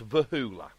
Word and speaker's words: Voula: It's spelled Voula, but it's Vahula.